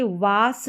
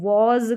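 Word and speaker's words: was: इज फिर यह देखेंगे वास नहीं पढ़ते हैं इसको वास भी नहीं पढ़ते हैं वच भी नहीं पढ़ते हैं इसको वज़ करके पढ़ते हैं एस का उच्चारण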